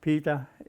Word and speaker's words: Pita: Pita is Inuit way of pronouncing my name, Peter. Peter Irniq, Pita Irniq.